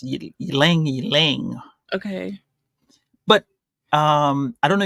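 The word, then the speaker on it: Ylang-Ylang: Now, the reason is because they have a large production of, I don't know how to say this, it's YLANG slash dash YLANG. I guess it's Ylang Ylang.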